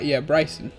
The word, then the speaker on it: Brycen: It's like, it rhymes with ice, right? His name is, I think, Brycen. Brycen, yeah, that's it.